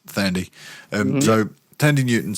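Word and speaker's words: Thandie: Tandy Newton. No, it's Tandy Fandy. Tandy Fandy. Newton is pronounced Thandy.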